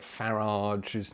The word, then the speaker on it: Farage: I saw in a comment on one of the Telegram groups, is it kind of any coincidence that Farage's name rhymes with Mirage, hence the name of this video?